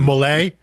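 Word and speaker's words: Mollé: I guess Everybody it's gets pronounced one. Mollet, Yeah. with the accent on the E there, you know, she is someone who, yeah, I mean, she is.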